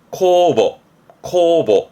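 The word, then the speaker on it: 酵母: 발음은 코소, 효모입니다. 코보 해서 이 삭힐효, 발효하는 효자는 이 정도면 됩니다.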